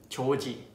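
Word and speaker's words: 조지: And then four is George, which is Joji, Joji. And number five is Ronald.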